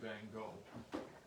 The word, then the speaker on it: Van Gogh: Because normally the way it's spelled, it to 90% of the world will say Van Gogh.